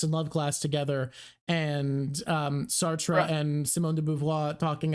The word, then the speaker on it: Sartre: Oh, drop stealing opinions from Sartre. I say Sartre, it's Sart, but when you say Sartre, it rhymes with cafe, and then it goes with the joke I have about Sartre.